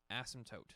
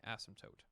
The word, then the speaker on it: asymptote: see that it's different asymptote don't pronounce that P asymptote an asymptote is a